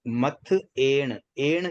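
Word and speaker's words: मत्थएण: ध्यान रखें कई बार मथ ए ण शब्द को थोड़ा सा मथे मथे बोल देते हैं मथे तो मथे मतलब थ पर ए की मात्रा को जोड़ना नहीं है थ के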